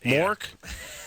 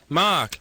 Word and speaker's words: Mark: If I say my name's Mark to people, they go, like Robin Williams in that show, Mork. And I'm like, no. Mark.